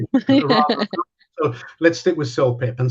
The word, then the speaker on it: CELPIP: So let's stick with CELPIP. And CELPIP is the right pronunciation.